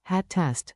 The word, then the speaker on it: hattest: Keep the double T crisp. Hatte, hattest, hatten. Say it with me. Your tongue is the drummer, short, tidy beats.